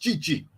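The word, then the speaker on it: Tite: And Chichi, T-I-T-E, pronounced Chichi, an outstanding Brazilian manager, will have to pick 33 to 55 players, not spoiled for choice.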